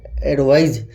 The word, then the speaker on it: advise: जो साउंड है, जो कह रहा है, वो क्या होगा, एडवाइज। हालांकि इसको जो उच्चारण किया जाता है, जेड उच्चारण किया जाता है, एडवाइज।